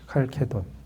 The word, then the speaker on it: 칼케돈: 이거 이제 언어마다 발음이 다 다른데 칼케돈이라고 그래요. 칼케돈. 일반적으로는 이제 우리는 칼체돈이라고 할 거예요.